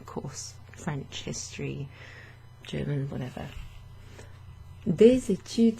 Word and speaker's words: des études: Des études, the S is pronounced in front of the E, that's a liaison.